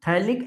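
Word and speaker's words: phthalic: थैलिक acid. पीए silent होता है। पीए क्या होता है? साइलेंट। बेंजीन के दो अड्डेंट कार्बन पर COOH लग जाए तो थैलिक एसिड बोला जाता है।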